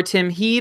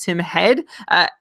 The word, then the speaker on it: Tim Heed: sustainable from Vlasic or Tim Heed, or as I think our Swedish friends have told us, it's pronounced Tim Head.